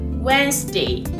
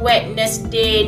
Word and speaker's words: Wednesday: Bukan Wednesday, bukan Wednesday. No, it's wrong. Salah. Okay? Jangan baca ikut ejaan. Alright, the correct pronunciation, sebutan yang betul is Wednesday. Wednesday. Wednesday. Stress on the letter W, tekan dekat huruf yang huruf W tu.